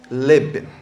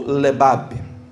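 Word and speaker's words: לב: Então essa palavra coração no original em hebraico, se escreve lev, L e V, só que se pronuncia leb ou lebab, dependendo da conjugação, por exemplo, do coração, Lebab, né?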